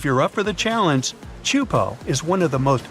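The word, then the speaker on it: Teahupoʻo: Chupo in Tahiti also has some of the heaviest waves in the world, breaking over a shallow reef and creating intense barrel rods.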